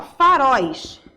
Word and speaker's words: faróis: A mesma coisa, ó, é oxítona, é a última sílaba. Então, vai ser acentuado por quê? Porque terminou em ditongo aberto e é oxítona, tá? A última sílaba é pronunciada com mais força.